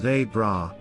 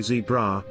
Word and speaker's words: zebra: get annoyed when people don't say it as they bra which is how they pronounce it if you happen to say zebra be prepared to seriously be harassed until you